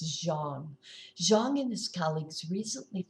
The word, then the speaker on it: Zhang: Now, this researcher's name is spelled Z-H-A-N-G, but it's pronounced Zhang.